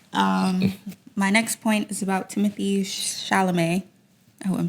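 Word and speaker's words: Timothée Chalamet: My next point is about Timothy Chalamet.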